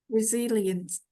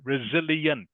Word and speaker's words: resilience: bang slowly please resilience resilience good resilience resil you you pronounce all the letters in the word okay that's how you pronounce it so you can all